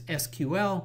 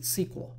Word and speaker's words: SQL: query language or SQL some people pronounce this SQL and others pronounce it SQL this language has been